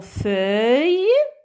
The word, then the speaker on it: feuille: Alors, dans le mot feuille, le son œil s'écrit cette fois avec deux L-E. D'accord? E-U-I, deux L-E. C'est le son œil.